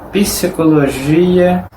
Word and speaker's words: psicología: Significa que en algunas palabras que la letra P en español no es pronunciada, en portugués sí, ella es pronunciada. Como por ejemplo, psicología.